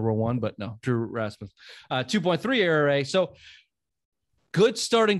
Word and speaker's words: Rasmus: I never pronounce this guy's name right. Rasputin. No, Rasputin. The Russian gypsy who like started World War One, but no, Drew Rasmus, 2.3 ERA.